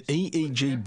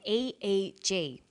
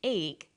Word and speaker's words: EEG: or an acronym an eeg brain scan helps answer that say the swinburne researchers he says an e e g that's an abbreviation we don't pronounce it egg we say e e g eeg stands for electroencephalograph